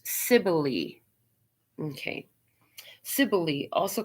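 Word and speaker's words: Cybele: weird i'll do as i'm told cybell oh sibylli is how it's pronounced sibyli okay ciboli also called magnum mater is the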